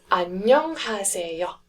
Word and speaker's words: 안녕하세요: The next syllable block is nyong, nyong. So we've got 안녕 so far. Then the third syllable block is ha, ha, 안녕 ha. And then we've got the fourth one, which is se, se, 안녕하세. and then the last syllable block is yo. Again, that one is starting with the silent consonant, so it's the yo sound only.